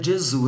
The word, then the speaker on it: Gesù: Tanto é que você fala Jesus em italiano, Jesus em italiano é Gesù, não tem a sílaba sus.